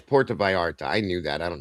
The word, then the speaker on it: Puerto Vallarta: So it's getting dangerous, And it's Puerto Vallarta. I knew that. I don't know why the hell I was trying to sound it out like a sixth grader. Sorry about that. Yes, Puerto Vallarta.